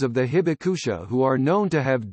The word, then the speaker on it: Hibakusha: Hibakusha the survivors of the bombings are called Hibakusha babe ouch a Japanese pronunciation so baka a Japanese word that literally